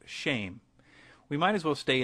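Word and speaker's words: שם: for name which is Shem pronounced shame we might as well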